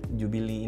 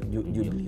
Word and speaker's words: Jubilee: Ini Rolex Pepsi yang paling barunya tuh karena dia Jubilee ini. Betul. Bacanya Jubil. Gue sih bilangnya Jubil. Jubilee. Tapi tulisannya Jubilee. Ya kalau Inggrisnya kurang bagus ya Jubile bilangnya. Jubilee. Gitu aja.